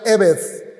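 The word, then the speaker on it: עבד: En hebreo esta misma palabra se pronuncia eved, que son difíciles de traducir, pero se ha adoptado esa traducción: siervo o esclavo.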